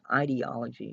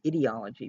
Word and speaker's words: ideology: lot of it, and some people mispronounce it as ideology. It's ideology, people.